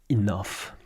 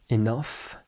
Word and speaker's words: enough: something you think about the word enough for example G pronounced F enough it is weird that's